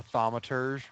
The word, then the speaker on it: thaumaturge: because it's a thaumaturge. Thaumaturge. I said it right this week because I heard a couple of podcasts say it.